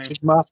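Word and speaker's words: Njigba: And how do you pronounce that last name? Jigma.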